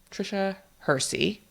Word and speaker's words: Tricia Hersey: Tricia Hersey.